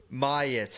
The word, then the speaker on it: Myatt: How do you pronounce it? Myatt.